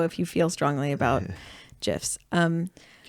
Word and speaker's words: GIF: Oh, the creator of GIFs said it is pronounced GIF. GIF is with a J and it's peanut butter.